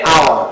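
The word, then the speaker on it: hour: For example an আওয়ার, দেখো এইচ, তাহলে হাওয়ার হওয়ার কথা ছিল, কিন্তু আমরা এখানে উচ্চারণ হবে এইচ এর পরে দেখো একটা ভাওয়েল আছে ও, এই ও থেকে উচ্চারণ আমার শুরু হচ্ছে আও, তাহলে এন আওয়ার বল।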